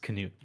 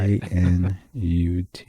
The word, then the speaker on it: Knut: it's KNUT. It's just Canute, like nut. Kanut.